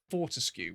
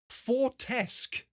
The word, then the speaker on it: Fortescue: Has anyone ever heard them pronounce the name Fortescue when talking about medieval? I kid you not, someone actually, without double checking how it said or anything like that, decided to go with the pronunciation Fortesque.